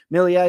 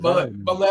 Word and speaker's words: Milei: I hope I'm pronouncing his name right because Milei. I think his name is Milei. I think you pronounce his name Javier Milei. Javier Milei. Okay. Sounds French, not Spanish, to be honest with you.